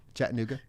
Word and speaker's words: Chattanooga: Chattanooga.